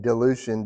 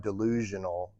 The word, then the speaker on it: dilution: dilution occurs um and I'm saying delution d i l u t i o n not like delusion delusion or um I want